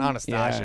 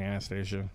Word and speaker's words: Anastasia: It's not Anastasia. Yeah. It is pronounced Anastasia.